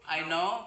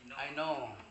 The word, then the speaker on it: know: Kemudian KNOW, KNOW, I know bacanya bukan I know. I know. Ya.